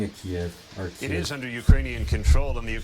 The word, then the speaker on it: Kyiv: I'm pronouncing it Kiev.